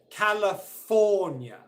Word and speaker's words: California: question the answer is the primary stress the main stress in the word is on fall the third syllable California California California okay but